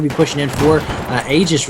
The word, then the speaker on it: Aegis: as I'm being told that's how it's pronounced Aegis not egis we were we were